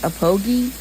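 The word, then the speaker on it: Aphogee: I read it APHOG, but I heard it's Apogi.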